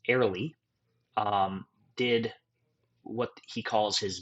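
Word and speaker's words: Ariely: So Dan, I believe his last name is pronounced Airley, did what he calls his meaning of work experiment.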